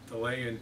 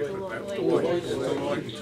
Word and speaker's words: Deloitte: always mangle their name, Delay & Touche, I think it's called. I think I pronounced that right. Deloitte & Touche.